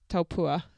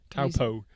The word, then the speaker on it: Taupo: raced half distance since Taupua last year in New Zealand. You're going to have to learn how to pronounce Taupo.